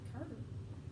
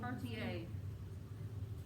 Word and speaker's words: Cartier: Looks like Carter. Looks like Cartier. I thought it was Carter. Yeah, that's what I thought. Cartier. You'll see the pronunciation here when we start reading. So the R is silent, Mm-hmm.